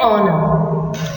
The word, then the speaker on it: honor: look at an example an honor over here h is silent we use n because